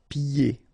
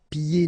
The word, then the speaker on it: pieds: So final S here and then final S here is not pronounced. And then when you get this combination here, it's ye. Pieds. Okay, so you don't hear the D.